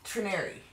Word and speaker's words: Trenary: of the Tyranny toast Trenary oh like canary remember it rhymes with Canary and I like that